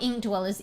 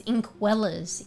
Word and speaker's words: Inkwellers: Uh, not ink dwellers. Inkwellers. Inkwellers. I N K W E L L E R S. No D. Inkwellers.